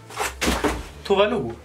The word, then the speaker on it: Tove Lo: and it sideways oh yes this masterpiece by Tuvalu it's sunshine killing and I pronounce the right because I'm from Satan and